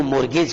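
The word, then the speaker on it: mortgage: तो मॉर्गेज करना स्पेलिंग जरा ध्यान से देखो बच्चों, MORT। अब आप क्या करते हो, टी बोलते ही नहीं हो, तो GAG स्पेलिंग थोड़ी स्पेशल है, ध्यान देने लायक स्पेलिंग है ना।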